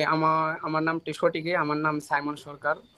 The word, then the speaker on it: সাইমন সরকার: আমার নাম সাইমন সরকার।